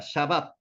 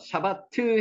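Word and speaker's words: שבת: 샤밧, 샤밧. 요 단어 중요합니다. 샤밧. 요 짝대기는 요 둘 다가 아 발음이라 그랬습니다. 샤밧, 샤밧. 샤바트 해도 상관없는데 샤밧을 밑으로 끌어붙이는 게 나을 것 같습니다.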